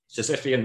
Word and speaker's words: Sisyphean: I can't pronounce it. I think it's Sisyphean. Sisyphean, there you go.